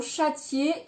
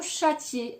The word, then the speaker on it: châtier: Hein, il y a 2 voyelles collées qui comptent pour 2 syllabes différentes.